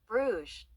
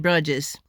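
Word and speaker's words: Bruges: It says bruge. Bruge. So I would have said brudges because Americans are taught most of the stuff that we read is phonetically.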